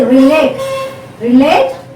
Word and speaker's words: relate: So relate is a different word, related is a different word, but when you say relate, the stress is on the relate, second syllable, and here also same, related also takes the same stress.